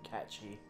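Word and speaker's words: Cait Sith: Cage Sith. Nominee. Or his the real way you pronounce it, catchy.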